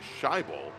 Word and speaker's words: Scheibel: he wanted first off to correct me on a pronunciation issue with our only GT1 driver. It's Brian Scheibel, and he's telling me